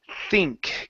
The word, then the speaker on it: think: Let's go to the word think. Give me a good TH here.